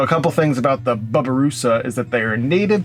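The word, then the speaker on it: babirusa: so now let's get sketching all right the bubba russa i looked up the pronunciation of it and it is not baby as it looks like babi it is bubba like like the dude next door bubba babaroosa um so the barbarus i became familiar with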